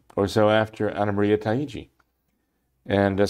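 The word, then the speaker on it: Taigi: so after ana maria taiichi and some say taiigi but it's would be spelled in such a way that would pronounce t-a-i-g-i taiji uh and uh marie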